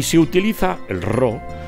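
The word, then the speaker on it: ρ: como nuestra pe solo en cambio suena como er la p en griego es be y tiene otro símbolo como bien saben los matemáticos y los estudiantes de primaria y se utiliza el rock o la letra rock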